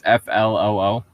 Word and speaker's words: Floo: I believe it's FLOO. So it is like sickness. No, flu is FLU. But it sounds like flu, not They sound the same, yes, but they're not spelled the same.